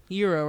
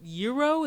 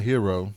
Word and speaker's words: gyro: I always is it is it euro is that how you say it Euro it's not hero it's not hero it's not gyro it's not gyro I